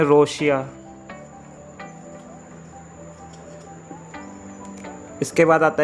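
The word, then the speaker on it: ロシア: इसके बाद आता है गाइस रशिया। रशिया को बोला जाता है जापानीज़ भाषा में रोशिया।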